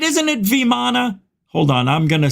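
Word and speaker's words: vimana: fly machines were even viam mana and somewhere on this planet today there are remnants of these objects still it's not viam man it's viman right it's not viam because it's Italian hey yo viam over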